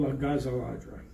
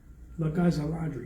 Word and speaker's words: La Gazza Ladra: He says, Karahalis, he says, your pronunciation's pretty good, but La Gazza Ladra, you're saying it wrong. He says, you got to emphasize the Gazza, right?